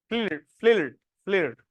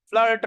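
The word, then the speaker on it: FLiRT: फ्लिर्ट, FLIRIT, फ्लिर्ट। फ्लर्ट नहीं है, okay, फ्लिर्ट है जिस हिसाब से प्रोनाउंसिएशन उसमें लिखा था।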